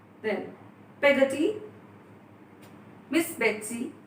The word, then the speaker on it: Peggotty: And just be careful with the pronunciation of words. It's Peggotty, not Peggotty. Alright? Then, Peggotty, Miss Betsy called to our faithful servant.